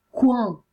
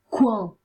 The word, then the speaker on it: coin: O, a U si legge U, coin, OI si legge UA, coin.